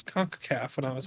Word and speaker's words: CONCACAF: And it's gonna start with me trying to pronounce CONCACAF. Concavity. Concaf. I love that I said it so confidently with CONCACAF. I was like, yeah, that's it. And then Danny's just like, actually, it's CONCACAF.